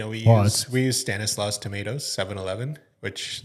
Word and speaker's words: Stanislaus: It's uh Stanislaus.